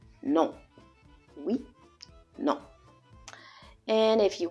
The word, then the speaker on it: non: And how you say no is non. It's a on sound. Non.